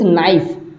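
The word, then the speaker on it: knife: Next है आई कट the cake with नाइफ, नाइफ, है ना। नाइफ का स्पेलिंग के से स्टार्ट होता है और यहाँ पे के हमारा साइलेंट रहता है ना।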